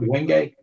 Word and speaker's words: Wenge: Am I pronouncing that right, Rob? Wenge?